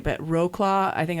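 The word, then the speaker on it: Wrocław: dragons and then I I know I'm not pronouncing this right but Roclaw I think it's like Rus or something I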